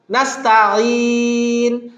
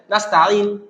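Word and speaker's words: نَسْتَعِينُ: দেন আসেন ওয়া ইয়াকা নাস্তাঈন, আপনি এখানে যদি থামেন তাও টান দিবেন নাস্তাঈন, যদি না থামেন তাও বলবেন নাস্তাঈনু দিনাস, নাস্তাঈনু দিনাস, তাহলে নুনের পে সরাসরি হাকে ধরবে, আলিফটা এখানে সাইলেন্ট হয়ে যাবে, নুহদিনা। তো আপনি এখানে থামেন আর না থামেন এই নাস্তাঈতে একটু টান দিবেন, নাস্তাঈ আইন ইয়াজের এটা ইয়া আমাদের টানতে হবে।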